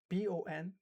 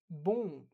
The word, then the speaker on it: bon: So for example, B-O-N, bon, bon. So I don't actually say bon. No, I'm not pronouncing the N, right?